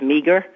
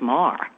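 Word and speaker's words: Meagher: Oh, yeah, that's accurate with just one correction, one which she probably would like is, even though her name looks like it's Meager, it's pronounced Mar.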